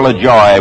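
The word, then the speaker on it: Lajoie: player came from there pronounce it l or Le Joy whichever you like still alive wonderful old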